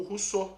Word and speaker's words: Rousseau: o filósofo que ele mais gostou foi o Rousseau só que Rousseau como vocês podem ver aqui